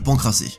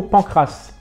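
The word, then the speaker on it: pancrace: le plus atypique le pancrassé N il est même pas foutu de prononcer correctement le mot Pancras c'est pas pancrass c'est c'est Pancras le nom vous dit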